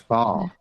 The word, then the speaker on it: Bath: and that is it's not Bath, What is it? Bath. it's Bath.